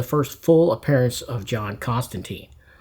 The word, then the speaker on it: Constantine: appearance of John Constantine, or should I say John Constantine, as Alan Moore pronounces the name. I mean, he created the character, so maybe we're supposed to say Constantine. It doesn't come right off my tongue. I've heard it Constantine for so long, but anyway, I digress.